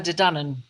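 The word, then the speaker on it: Tuatha Dé Danann: of them that's right the two of her de dunan that's correct and their fight they're fighting and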